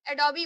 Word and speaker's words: Adobe: जैसे ए डी ओ बी ई है तो इसको हम एडोबी बोलते हैं।